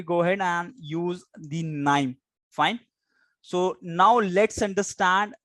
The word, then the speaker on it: KNIME: So KNIME, you can simply compare it with knife, right?